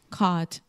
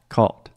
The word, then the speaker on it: caught: in the past and the most common mistake that I see Brazilians make is they want to say ow ow like ah my teacher talked taught caught bot but again this is just the ah sound just like all they saw bought caught